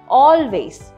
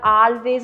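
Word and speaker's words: always: ഈ എപ്പോഴും എന്നുള്ളതിന് പകരം നമുക്ക് ഇംഗ്ലീഷിൽ യൂസ് ചെയ്യാൻ പറ്റുന്ന വാക്കാണ് ഓൾവേസ്. ഓൾവേസ്. അപ്പോൾ ഇത് പലരും ഉച്ചാരണം തെറ്റിക്കാറുണ്ട്, ആൾവേസ് എന്നൊക്കെ പറയാറുണ്ട്, ഓ ആണ് ഓൾവേസ്.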